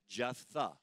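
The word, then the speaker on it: Jephthah: and his name is jetha jetha it doesn't look like it's pronounced that way but it's like Jeff Jeff the Jeff the and let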